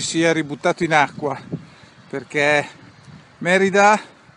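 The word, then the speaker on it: Mérida: Sono a circa 5 km da Merida, perché dopo una vita che pronunciavo Merida mi hanno insegnato che è Merida con l'accento sulla prima E, e sono davanti al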